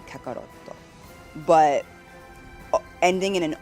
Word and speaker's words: Kakarot: So if the actual intended name that the creator was trying to create in Japanese was Kakarot, then the best way to pronounce that would be Kakaroto.